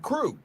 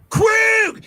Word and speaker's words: Krug: Like I struggled with Krug and he Krug. It's Krug. It's Krue.